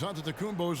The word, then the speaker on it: Antetokounmpo: the spelling of Giannis Antetokounmpo's last name. He helped set the record straight of how you pronounce it. The Nigerian way, you gotta say with a D.